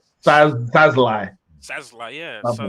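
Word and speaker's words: Szalai: It's Sazlai.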